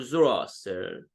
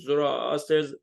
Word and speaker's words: Zoroaster: I use the Greek pronunciation of his name, so it's more universal. And when do you say Zarathustra, maybe someone says, oh, what do you mean? Who are you talking about? And actually, even Friedrich Nietzsche, in a German philosopher, he actually used the original pronunciation, Zarathustra, and in English even right, thus spoke Zarathustra.